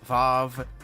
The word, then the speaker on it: Vav: I went and actually looked up how to pronounce all of the classifications yesterday because I was very confused. It's Zayin, Teth, Vav, Hey, or Hey, Vav, Aleph.